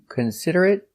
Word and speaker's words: considerate: he's very inconsiderate so remember these important words they are not verbs so they are not pronounced eight but they are pronounced it remember desperate consolate Immaculate illiterate considerate and inconsiderate we're going